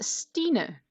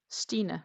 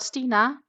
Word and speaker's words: Stine: VJ, my name is Stine. So Stine is my name. So like Christina, just Stine, no Cree. Stine, not Stina, though a lot of people like to call me Stina.